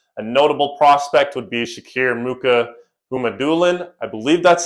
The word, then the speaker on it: Shakir Mukhamadullin: A notable prospect would be Shakir Mukhamadullin. I believe that's how you pronounce his name.